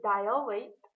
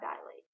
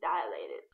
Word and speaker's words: dilate: The word is dilate, not dilate. You don't go to get your eyes dilated. You go to get them dilated.